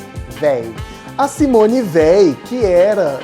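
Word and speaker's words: Veil: 1975, uma mulher que se chamava Simone Weil, não é Weil igual, e aí, Weil? É o sobrenome dela, tá? Se escreve V-E-I-L, Weil.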